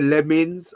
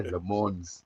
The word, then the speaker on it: Lammens: So I don't want to hear Lemmens. I don't want to hear Lammens. Lammens. Yeah, Lammens. That's it. That's how he says his name, right?